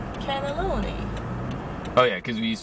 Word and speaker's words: cannelloni: night canaan and nolan canaloni no it was more syllables no c-a-n-n-e-l-o-n-i cannelloni oh yeah because we